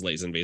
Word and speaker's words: Lazenby: believe he says like George Lazenby himself says Lazenby so I'm inclined to go with his pronunciation and anybody who has